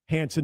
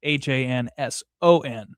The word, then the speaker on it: Hansen: Which is when you hear it over, normal speech, doesn't sound like it's anything different, but it's HANSEN, not HANSON. So spell it right, people. EN, not ON.